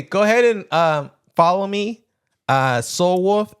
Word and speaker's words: SOQL: Soul Wolf, SOQL. The Q is silent. Wolf.